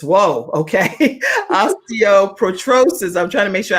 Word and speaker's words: osteoporosis: blind and has a rare bone disease osteo osteoporotrosis whoa okay osteoporosis i'm trying to make sure i don't mispronounce that is that correct right yes that's